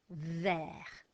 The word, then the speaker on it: vert: V, e, vert, vert is green.